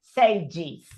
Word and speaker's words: sages: Cuando le agregamos la S, para formar el plural, que el plural se forma igual que en español, que le agregamos la S, como cuando la palabra termina así en un voiced sound, like sage, el plural, sí, ahí sí la E se pronuncia, pero la E en inglés es I, entonces decís sage y el plural es sages.